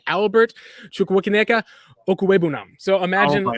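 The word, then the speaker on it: Okwuegbunam: It's Okwebunam. That's how you pronounce it. It's Albert Chukwuemeka Okwebunam.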